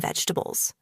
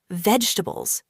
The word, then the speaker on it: vegetables: This word vegetables can sound tricky. A lot of people say it like this, vegetables, slowly and with every syllable. But in natural English, we often say it faster and smoother. Vegetables. Only three sounds.